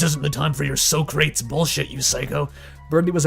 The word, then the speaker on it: Socrates: her pronunciation of Socrates, which she had, of course, said like an imbecile, describing something else as being very much in the manner of wooden boxes. So very crates indeed, rather than as the glorious 3-syllable name.